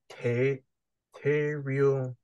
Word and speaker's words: te reo: Te reo Maori. It's Tereo. Tereo. Roll on the R.